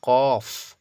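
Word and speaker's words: ق: কত ভুল পড়তেছি বলেন এটা হলো কফ আরটা হল কাফ একদম হালকা কাফ যেমন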